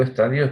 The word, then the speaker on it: estadios: Y digo estadios porque poner acento en la I no es correcto.